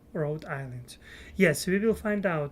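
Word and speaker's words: Rhode Island: road rad Island and H is silent RH Island yes we will find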